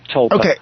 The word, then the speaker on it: tulpa: Tulpa, tulpa.